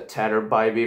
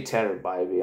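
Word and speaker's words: Tanner Bibee: mean and actually guys I have to apologize to tattered by me for getting his name wrong in my intro yeah it's actually you say Tender by me I know but he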